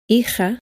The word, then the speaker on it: hija: In many areas of Spain, but especially in the center and in the north, the letter J is pronounced much stronger and sounds like this. Hija, ojo, jugo.